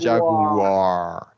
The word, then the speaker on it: Jaguar: I want you to I want to hear that r at the end of the word Jag Jaguar yeah there you go